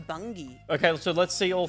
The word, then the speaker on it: Bungie: It's actually pronounced bungy.